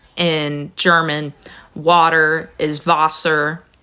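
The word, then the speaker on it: Wasser: in German water is vaser because the W is pronounced as a v in German um but it's written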